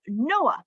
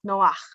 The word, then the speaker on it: Noach: figure who we know by the name of noah but the correct pronunciation of his name is noah so let's get started all right going a